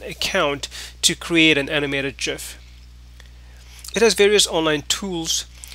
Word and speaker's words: GIF: with a review on gift McNamee oops did I say gift well apparently supposed to be Jeff Jia F is apparently pronounced as Jeff not gif yeah that's according to